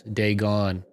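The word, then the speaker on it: Dagon: their head they gone okay that's how kadithi pronounced it too so i'm gonna i'm gonna say that's unanimous day gone all right well thank you for the so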